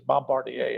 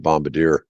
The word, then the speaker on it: Bombardier: or Bombardier I think it's bombarder actually is it well I that's that's the most popular brand in snowmobiles and everybody just calls it Bombadier yeah same I'm sure it's I'm sure people are saying it wrong but what everybody calls